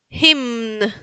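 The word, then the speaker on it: hymn: Himn. Recuerden que tienen que pronunciar todas las las letras. Entonces, eh, los polacos pronuncian absolutamente todas las letras. Entonces, se pronuncia la m y la n.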